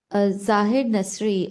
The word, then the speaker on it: Zahid Nasri: the petitioner okay um zahid nasri this is member Kumar this is the right pronunciation of your name right yes that's correct okay so uh Mr